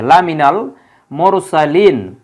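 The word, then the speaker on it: لَمِنَ الْمُرْسَلِينَ: কোন ব্যবহার নেই শুধু উচ্চারণটা মিলানোর জন্য এই মিন থেকে মিনাল করা হয়েছে লা মিনাল মুরসালিন মুরসালিন শব্দটা আমরা যদি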